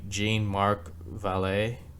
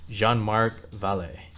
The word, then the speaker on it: Jean-Marc Vallée: film is directed by Jane Mark valet let me pronounce that again Jean Mark valet who directed Dallas spers